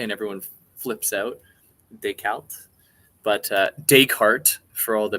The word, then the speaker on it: Descartes: I pronounce it the French way, and everyone flips out. Descartes.